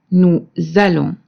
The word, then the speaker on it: nous allons: The verb allons starts with a, which is a vowel, and this is why we make this sound z, nous allons. And we do the same with vous allez.